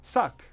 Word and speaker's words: bsags: Like in this verb that looks like besags, B is a prefix and the S is a suffix, so you can just concentrate on getting these middle letters right. Suck, maybe. Okay, and now you're thinking,